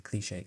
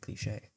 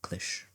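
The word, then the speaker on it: cliché: You could say a cliche cliche. And finally, what brings it all together, the presentation. Without the acute accent mark, it is just some weirdly spelled click or clish if youre weird.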